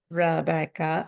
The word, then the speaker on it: Rebecca: know how to say my name uh it's Rebeca oh I wonder if it's backwards for you